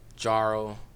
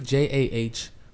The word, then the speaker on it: Jahrel: Some people say Jarrell, Jarl, Jahurl. Like I don't know, cause the H just throws everyone off. It's really Jahrel, Jarrell, but it's like Ja.